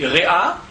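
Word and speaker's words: רֵעַ: En hébreu il se trouve que le mot ton prochain en hébreu se dit réa qui s'écrit exactement de la même manière que ra, c'est-à-dire le mal.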